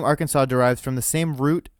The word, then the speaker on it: Arkansas: south wind in 1881 the pronunciation of Arkansas with the final s being silent was made official by an act of